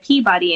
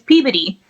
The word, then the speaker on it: Peabody: They asked me, how do you say this word? And I said Peabody. And they're like, that's not how you say it.